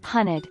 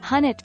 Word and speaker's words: hunnid: Pronounced, hunnid. Any way of referencing that hunnid is blue extra points. Edit. A lot of people are saying it's actually pronounced, hunnit.